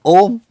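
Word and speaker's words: ॐ: from that tradition now om traditionally has been divided into two three syllables three syllables the first syllable is a as i said even a dumb person who cannot speak can say ah so ah a uh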